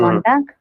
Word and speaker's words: Montag: So here this word is ending with G. You have to pronounce as ka. Mm. Montag.